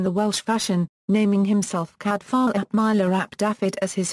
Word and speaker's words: Cadfael: name cadar Lis Peters intended the F to be pronounced as an English V and suggested it be pronounced cadal although normal Welsh pronunciation would be ecad Vel the name is commonly